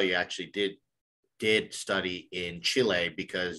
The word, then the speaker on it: Chile: Now I can tell you actually did study in Chile because you pronounce it Chile versus Chile, which is great.